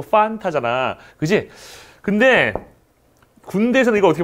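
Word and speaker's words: Fanta: 우리 히읗 발음 하면 안 된다고 그러죠, F 발음을. 우리 친구 환타 틀렸잖아. 우리 친구 판타잖아.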